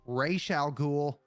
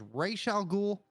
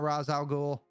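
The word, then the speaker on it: Ra's al Ghul: say his name, it's Raish al Ghul. Yep. That was confirmed in the animated series all the way back in the 90s. It is Raish al Ghul, not Raz al Ghul.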